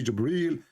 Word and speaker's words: Jibril: here he arrived gabriel it's not gabriel by the way it's jibril even muhammad he got the name wrong so jibreel he arrived he asked the